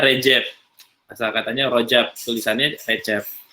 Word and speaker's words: Recep: C itu di sana dibacanya J. Jadi kalau ada yang baca Recep itu berarti orang Sunda gitu ya. Bacanya di sana Recep.